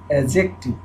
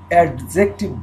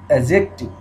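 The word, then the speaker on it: adjective: উচ্চারণ বন্ধুরা এ ডি জে খেয়াল করবো, এটাকে ইংলিশে উচ্চারণ করবে অ্যাজেক্টিভ, ডি এর উচ্চারণ আসে না, অ্যাডজেক্টিভ বলে না, ওরা বলে অ্যাজেক্টিভ।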